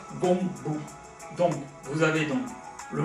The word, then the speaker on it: 弓步: Et en mandarin, ça devrait être Gongbu.